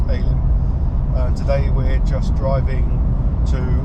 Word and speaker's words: Elim: Highly recommended Cooktown, and going out to Alien Beach, which is spelled Elim but apparently pronounced Alien.